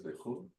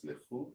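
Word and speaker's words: לכו: what is lechu? To go. Huh? The correct pronunciation is lechu, to go.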